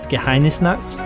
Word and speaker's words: Geheimnisnacht: One of the newest mods which I'm having a great time with is Warhammer Geheimnisnacht, and that is how the Germans say it.